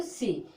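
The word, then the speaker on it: sea: ठीक, सिर्फ सी को पढ़ोगे, इतना बंद कर दोगे, क्या पढ़ोगे, सी, इसको पढ़ेंगे सी।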